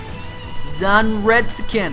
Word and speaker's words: Zanretsuken: Zanretsuken, that's how you pronounce it.